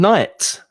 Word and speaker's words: knight: see your knuckles and knight is exactly the same pronunciation as noche so knight without a k is exactly the same as with a k but you know the